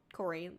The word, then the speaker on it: Kori: Corey, like Corey in the house, but it's spelled differently.